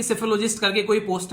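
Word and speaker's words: psephology: तो सेफोलॉजी word आप लोग याद रखना, पी साइलेंट होता है और इसका मतलब होता है कंकड़ वगैरह।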